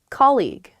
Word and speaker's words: colleague: had a coffee too colleague colleague yes colleague many of my students struggle with this they say colleague or they say call you or something because the spelling